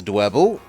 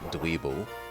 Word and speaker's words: Dwebble: Who has dwebble? Rhymes with pebble. Bloody Kaledan calling it dweebble.